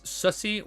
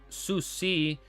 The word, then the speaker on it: Susi: You pronounce it as Sussy, well, it's Susi with a C sound.